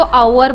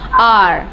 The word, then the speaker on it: our: कौन था वो आवर बोल रहा था? आवर मतलब इंग्लिश में आवर means N आर, यू know, 1 घंटा 2 घंटा 3 घंटा, वो 1 घंटा वाला आवर होता है. ये इसको कैसे प्रोनाउंस करते हैं हम लोग, देखो ध्यान से. आर, क्या बोलेंगे हम लोग? आर.